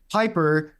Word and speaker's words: Pieper: of Texas and one of which is definitely Piper uh that's how you pronounce it correct it is the P the